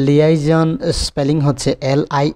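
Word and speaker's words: liaison: তো আমরা জানি যে লিয়াইজন স্পেলিং হচ্ছে এল আই এ আই এস ও এন, এটাকে লিয়াইজনও উচ্চারণ করা হয়, যার অর্থ হচ্ছে দুই পক্ষের সংযোগ স্থাপন করা বা যোগাযোগ।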